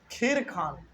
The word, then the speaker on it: Khizr: इसमें जो सबसे इंपॉर्टेंट राजा साबित हुए हैं वो केवल एक था, खीर खान। KHIZR। खीर, बहुत लोग इसको खिर्ज पढ़ते हैं, बहुत लोग इसको खीर खान कहते हैं।